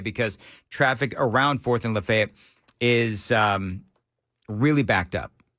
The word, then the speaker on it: Lafayette: No, just I'm just reminding our news per it's not Lafayette around here. No, it's not Lafayette. It's Lefayet.